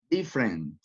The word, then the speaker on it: different: Next, different. Different. Which letter is not pronounced? Excellent again. Letter E. Different.